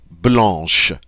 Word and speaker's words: blanche: And notice also we don't get to pronounce this C, although we normally would, but not in this case.